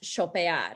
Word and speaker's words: chopear: talked about very briefly the ch makes can make a sho sound so actually we would pronounce this as chopear or i said which